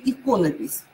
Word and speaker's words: иконопись: стиле иконопись иконопись или иконопись ударение на первый слог иконопись и проблемы основа